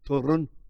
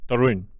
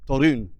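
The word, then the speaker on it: Toruń: How's my pronunciation, Eric? Is it getting better? Turun. Torun. Torun. Yeah. It's a difficult one for an English.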